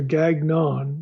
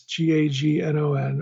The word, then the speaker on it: Gagnon: correctly or not it's it's either Gagnon that's g a n o n or gon probably Ganon uh Robert gyan's book